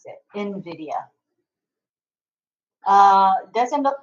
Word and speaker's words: Nvidia: it's actually spelled NV D IE but it's pronounced Invidia I looked it up to myself I how to pronounce it Nvidia uh doesn't look like there's any other responses